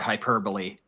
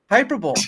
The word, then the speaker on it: hyperbole: And I'm just over here cracking up over your pronunciation of the word hyperbole. Hyperbole.